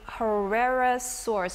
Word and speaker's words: Cryolophosaurus: We're going to bring up one which is called the Cryolophosaurus. Is that correct? Beautiful pronunciation.